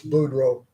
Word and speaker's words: Boudreau: You've got Blanchard, Ballou, Bertrand, Budrow, although it looks like it's Budrot or Boudrot. That's Boudreau. Bourg, Bourgeot.